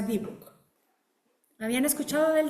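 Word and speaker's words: dibbuk: Sí, normalmente la se pronuncia debook. ¿Habían escuchado del dibuk?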